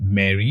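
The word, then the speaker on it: Marey: Mary, pronounced Mary but spelled with an E, is their generative video tool, which had its public launch in July.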